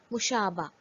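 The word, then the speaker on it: مشابہ: In this case, Gol Hai is written but is not pronounced. For example, Khe, Seen, Te, Gol Hai, Khasta, crispy or fragile. Meem, Sheen, Alif, Be, Gol Hai, Mushaba, similar.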